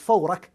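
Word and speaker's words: Furak: It's Fawrak.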